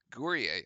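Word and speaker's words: Guerrier: Gourier. Ah, I had it right. It is. It's like French. We can do that. All right. Duke now trailing by two after the made free throws by Gourier.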